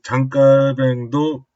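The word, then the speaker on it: Jean Calvin: 보통 칼빈이라고 하는데요. 프랑스 사람이거든요. 그래서 장깔뱅이 맞습니다. 프랑스식 발음을 해줘야 되니까요. 또 장깔뱅도 중요한 도시 2개만 소개를 하고요.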